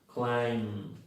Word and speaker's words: climb: La 61, AMB, IMB, OMB, UMB, la B es muda. Entonces se pronuncian así. Lamb, no hay B ahí. Climb, no hay B.